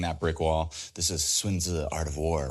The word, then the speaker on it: Sun Tzu: You know, I know it's spelled S-U-N. It's a romanization. Everybody says Sun Tzu. That's just how it was written in like the 1800s, the Wade Giles method, or however, when they started to first romanize Chinese.